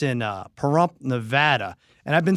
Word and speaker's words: Nevada: how do you say it aery Nevada it's Nevada okay cuz it's weird cuz the guy in